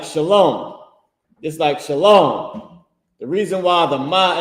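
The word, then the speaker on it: שלום: He don't put SHALAWOM, shalom. He don't put that because that's not the correct pronunciation.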